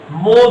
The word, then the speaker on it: mho: मतलब ये जो प्रति ओम लिखा है, इसको कुछ लोग मो भी कहते हैं, इस तरह से, ऐसे महो, MHO, OHM को उलट दिया गया।